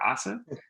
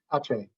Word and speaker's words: Aceh: And I'm going to pronounce that probably incorrectly, but Aka, I believe it is, or Asa? Aceh.